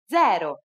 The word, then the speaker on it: zero: uno do you know it's the same as in english but with a different pronunciation zero zero you don't have